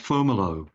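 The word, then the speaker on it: Fomalhaut: star whose name is it's usually pronounced fomo uh it's spelled f o m a l h a u t and it is in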